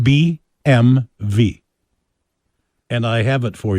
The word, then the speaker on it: BMW: Okay, the correct pronunciation is, first of all, the last letter is not pronounced like a W. Actually, it should be pronounced BMV.